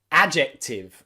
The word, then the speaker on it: adjective: Also in words where you can see the D followed by the letter J, like in adjust, adjust, j, j, j, adjust, and also adjective, a very common word if you're studying English grammar. Adjective, adjective, adjective, adjust and adjective. So remember, the D followed by a J is often a single j, j, j sound.